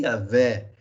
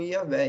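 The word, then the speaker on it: Yahweh: mente tá bom então a pronúncia mais correta de yavé ou e o roxo a Também seria uma outra pronúncia e o roxo a é que também pode se aproximar daquilo que essa palavra quer dizer tá mas vamos ficar com yaveh e esse é o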